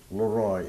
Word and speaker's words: Leroy: My name is Leroy. It's two syllables, L-E-R-O-Y.